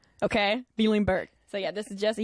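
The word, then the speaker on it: Bielenberg: And to pronounce that last name took me a second. Bielingberg. Okay? Bielingberg.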